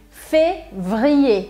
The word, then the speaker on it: février: E esse as pessoas têm dificuldade de pronunciar por conta deste V com R aqui. Février. Como que eu aprendo a pronunciar fevereiro? Février. Separando as consoantes na hora de treinar. Então você vai fazer uma respiração aqui entre as duas consoantes.